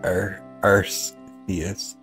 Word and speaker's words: Arceus: Arceus canonically pronounced Arceus.